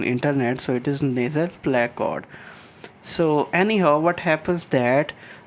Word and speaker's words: placode: I checked again on internet, so it is nasal placode. So anyhow, what happens that from this nasal placode, uh, let me show you again here, let me show you the animation, that these nasal placode, they will invaginate inward, they will grow inward,